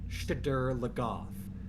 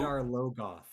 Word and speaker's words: Shadar Logoth: And this, more than any mispronunciation, grates on my nerves cuz it's not Shadar Logoth. It's Shadar Logoth.